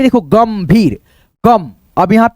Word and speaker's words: गंभीर: अब यहाँ पे देखो गंभीर, गम, अब यहाँ पे एन तो लगाएंगे नहीं क्योंकि दोस्तों इसका बिंदी का उच्चारण आधा मौ के रूप में आ रहा है, जैसे गम भीर, गंभीर, गंभीर, मो।